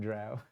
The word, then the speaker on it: drow: Drow rhymes with cow. Rhymes with cow or row. Right. People didn't know whether it was pronounced drow or dro.